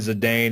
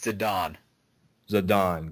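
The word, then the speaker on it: Zidane: definitely heart-wrenching I love the Love Story between zadane and Dagger um all right I know that I correct your pronunciation of names a lot like we had the whole moral conversation and oh yeah it's zadon zadon got it I I said it wrong too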